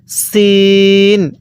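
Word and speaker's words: س: এই হরফটির নাম হল সিন হ্যাঁ এই সিনটা কিন্তু চিকন করে উচ্চারণ করতে হবে সিন এরপরে এই হরফটির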